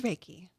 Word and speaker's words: Reiki: Well, what is Reiki or did I say it right?